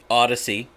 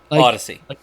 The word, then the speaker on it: Audacy: Audacy. No, Audacy. Audacy. Like Odyssey, like Honda Odyssey, but it's spelled stupidly.